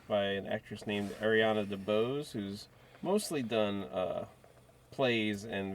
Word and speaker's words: DeBose: DeBoise, would that be Dubois? DeBose, I think it is. Is that how you say it? How you pronounce Dubois? No? Am I wrong about apparently it's just DeBose.